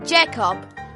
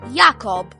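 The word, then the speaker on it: Jakob: In the scene where we first see the German spies for the first time, Victor pronounces Jacob in German as simply Jacob, when in German it's meant to be pronounced Yakob.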